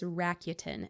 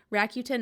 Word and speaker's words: Rakuten: app that I'm going to talk about is Rakuten and I think I'm actually saying it right